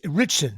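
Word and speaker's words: Ritchson: right Allan richon big chrisan you say okay how do you richon that's how you say it yeah but I'm yeah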